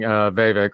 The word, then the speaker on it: Vivek: She had the line of the night with, telling Vivek, rhymes with snake, rhymes with fake, that every time he talks, she feels dumber, which was probably the best line of the night.